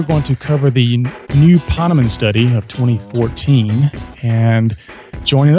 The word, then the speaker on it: Ponemon: Ponemon?